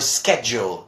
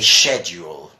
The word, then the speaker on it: schedule: that's wrong words well you've got a big difference between American and British English you see Americans would mostly say schedule and in British English you say shed you'll so thank you for